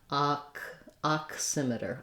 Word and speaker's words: oximeter: beginning ox oximeter oximeter it's actually just like the word ox or oxen um in terms of or the word box that actually sounds like an ah and a k and an s so if you can